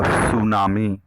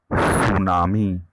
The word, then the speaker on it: tsunami: Today we are going to discuss lesson 2, that is the tsunami. Be careful about the spelling of tsunami and pronunciation. Tsunami. T is not pronounced. It is clearly tsunami.